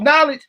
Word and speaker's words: knowledge: Because evidently you going about what they spelling, you talking about knowledge, you ain't got no knowledge then, because it's a silent K there.